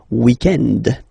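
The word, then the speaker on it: week-end: So, if we're talking about the weekend, okay, but then pronounce it the French way, weekend.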